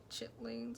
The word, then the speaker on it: chitterlings: Is this what Americans say, like chitlings and stuff? That doesn't spell like how it sounds.